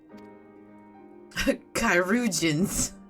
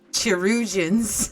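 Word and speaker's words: chirurgeons: by our most skilled chiropracians that's how it's pronounced i was pronouncing it chirogens where mistress levaya to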